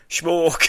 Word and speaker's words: Schmoke: Schmoke. Schmoke, that's how we'd spell it and everything.